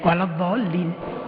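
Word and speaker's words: وَلَا الضَّالِّينَ: Ada yang kependekan. Mestinya waladhdallin. Bacanya waladhdallin.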